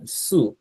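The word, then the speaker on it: つ: অগ্রভাগ থেকে বলবো, হ্যাঁ, সু মানে হচ্ছে জিহ্বা একটু দাঁতের মধ্যে চেপে সু বলবো, হ্যাঁ, সু বলবো।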